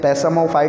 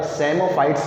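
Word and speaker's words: psammophytes: P silent है इसमें, पैसामोफाइट नहीं बोला जाएगा, सेमोफाइट्स बोला जाएगा।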